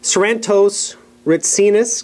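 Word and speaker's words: Sarantos Retsinas: scratch um and I correct me if I pronounce this uh wrong sarantos ritus correct that's right what oh that was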